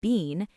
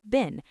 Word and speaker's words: been: The word been shrinks down. It doesn't sound like bean, it sounds like been.